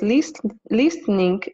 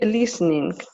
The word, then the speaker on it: listening: Вот слово listening, без «т» говорит listening или listening? Listening. Т не произносится, не мой Т.